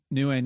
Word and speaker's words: Nguyen: Oh, Nguyen. Yeah. Nguyen.